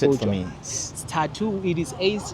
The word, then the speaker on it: Sthathu: So my my my type of style the way I'm dancing I dance what is called statu. That dance it is within the umbrella. Pronounce it for me. Tattoo.